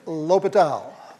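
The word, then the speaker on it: L'Hôpital: do you do use that famous rule that we all mispronounce when we see it written right we'll use a good old L hospitals rule okay it's lopital lopital's rule you have to differentiate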